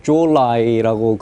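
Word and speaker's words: 周恩来: 52년 8월 20일, 김일성이 중공의 주올라이라고 중국 사람들은 발음을 하죠.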